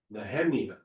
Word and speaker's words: Nehemiah: I think that's Nehemiah. That's how it's supposed to be pronounced.